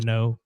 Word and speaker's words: Kneaux: or even on Facebook at the Know, KNEAUX, the only way to spell it.